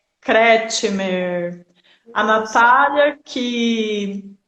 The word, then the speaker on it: Kretschmer: Pronuncia Kretschmer. Kretschmer.